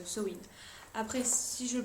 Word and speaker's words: Samhain: en fait ce mot-là techniquement il se prononce sen après si je le